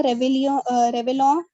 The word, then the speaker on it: réveillon: La famille de Manuel prend le réveillon après la messe. La famille de Manuel prend le réveillon. Réveillon. Double L is silent.